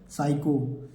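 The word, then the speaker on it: psycho: पहले पी आ गया एस से पहले प आ गया तो हमें इस पी लेटर को नहीं पढ़ना है पी को नहीं पढ़ना है पी को नहीं पढ़ना है प को नहीं पढ़ना है तो केवल इसको देखि मिला के पढ़िए एस वाई सी एच ओ इसे क्या पढ़ेंगे साइको साइ साइक यहां पर आई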